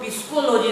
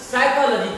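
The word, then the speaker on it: psychology: दोस्तों पी के बाद यदि एस रहे उस स्थिति में भी पी साइलेंट हो जाएगा। पी के बाद एस रहने पर साइलेंट होगा, जैसे पी एस वाई सी एच ओ एल ओ जी, पी एस वाई एल ओ जी वाई। इसको हम लोग पिस्कोलॉजी नहीं पढ़कर साइकोलॉजी पढ़ते हैं, कारण कि पी के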